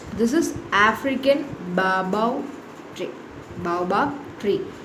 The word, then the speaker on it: baobab: Baobab tree. Okay, baobab, you should pronounce it.